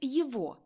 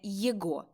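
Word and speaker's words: его: не в баронова козино в інтелігентній мові вимовляють Їво а не єго і не єхо Мокій стрепинувся аж підскочив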